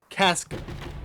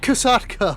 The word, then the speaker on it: Kaska: All right, ladies and gentlemen, we are back with another live commentary over a match between I'm pretty sure it's pronounced Casa. Casa, not Kasatka, like I was saying last time.